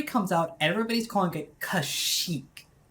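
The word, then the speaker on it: Kashyyyk: like that and you hear the pronunciation as kashik right cash it right and then episode three comes out everybody's calling it Kash Chic right and kashyyk is the canonical pronunciation it's the one that already is supposed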